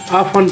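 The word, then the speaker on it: often: हम नॉलेज पढ़ते हैं ओ एफ टी ई एन तो टी नहीं पढ़ा जाता बल्कि लिखा जाता है अफन पढ़ते हैं के एन आई एफ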